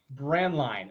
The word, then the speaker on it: Braendlein: It's pronounced Braendlein. Braendlein.